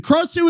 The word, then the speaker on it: Krasue: The name Gra or Craw, Sue as in Sue in Dr. Seuss in a rising tone, so it's Krasue.